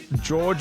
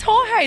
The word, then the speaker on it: Jorge: George? Am I pronouncing that properly? Or is it Jorge? Oh, Jorge. Jorge Marquez. Is it really? Our Spanish EP is just like, it's Jorge. Jorge is Jorge? It's Jorge. It's a soft J.